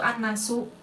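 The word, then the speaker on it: النَّاسُ: ya tulisan biasanya itu annasu ya tidak ada lam di sini Padahal di sininya di hurufnya ini ada huruf lam akan tetapi lamnya ini tidak dibaca dibacanya dari Alif langsung ke Nun nah ini yang disebut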